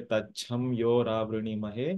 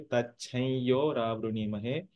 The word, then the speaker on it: तच्छयोरावृणीमहे: For example, we don't say tacham yo ravruni mahe, but we say tachai yo ravruni mahe. The I sound comes after the anuswara because the anuswara is followed by a ya.